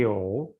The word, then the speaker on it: 有: Wo mei you, you-nya juga harus ada ketiga.